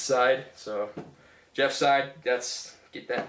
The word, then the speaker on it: Seid: It's spelled S-E-I-D. It's pronounced Seid. My last name is pronounced Seid. It's fucking German. It's a German last name.